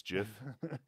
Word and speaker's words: GIF: it in canadian it's it's like jif it's not gif it's jiff that's also controversial fighting